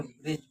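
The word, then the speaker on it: bridge: यहाँ पे देखिए डी से पहले, जी से पहले डी आया, यहाँ पे जी से पहले साइलेंट पढ़ा जाएगा। ब्रिज, ये क्या? ब्रिज पढ़ा जाएगा।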